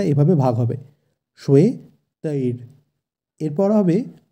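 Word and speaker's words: শ্বেতৈর্: আমরা জানি তালিবর্ষ থাকলে শয়ের উচ্চারণটা হয় স, স কিন্তু নয়, এবং অন্তস্থীয় ব থাকলে সংস্কৃতে বয়ের উচ্চারণ হয় ওয়া, তাই এক্ষেত্রে উচ্চারণটি হবে শ্বে।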